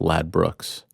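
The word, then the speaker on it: Ladbrokes: Angela's telling me it's pronounced Lad Brooks.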